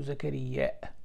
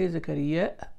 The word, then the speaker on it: زكريا: When he says, يعني محمد بن الصباح البزاز from Baghdad, يعني he said حدثنا إسماعيل بن زكريا. You can say زكريا and you can say زكريا, both correct.